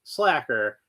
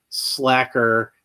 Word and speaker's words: Sla'ker: Uh, I'm pretty sure it's pronounced slacker because of the placement of the apostrophe.